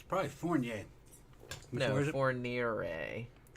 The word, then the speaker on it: Fourniret: It's Fourniret. Fourniret. But like I said, I'm not gonna pronounce it.